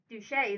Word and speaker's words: Duché: Duché, Duché they pronounce it, deserved that character, and therefore he moved that Mr.